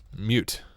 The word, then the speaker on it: mut: So we can say mut is pronounced mute, right?